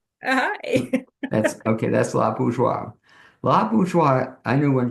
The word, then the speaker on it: Bourgeois: And toward that end, it's my pleasure to introduce La Bourgeois, and I have it correct. Is that pronunciation correct?